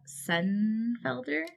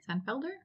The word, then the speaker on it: Sennefelder: reviewing three widows and a corpse by Deborah son elder son Felder that's how you say it um I don't